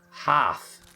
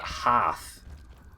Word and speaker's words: hearth: And we pronounce that hearth in Britain. So that's probably where you heard me say heart.